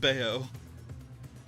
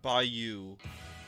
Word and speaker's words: Bayou: Bayou. Ah, fantastic. Toads of Bayou.